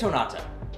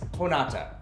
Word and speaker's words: Jonata: How do you pronounce this? Honata. Yeah, it's Honata. So I've been spending my time working on the video edit, and the entire time we keep saying it wrong. So it's Honata.